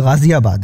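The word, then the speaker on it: ग़ाज़ियाबाद: रखिए गुस्ल गुस्ल खाना गाजियाबाद यह दरअसल यह वर्ड मैंने इसलिए लिया कि इस शहर के नाम का उच्चारण भी लोग बहुत ही गलत करते हैं तो व यह गाजियाबाद है एक और है गौरी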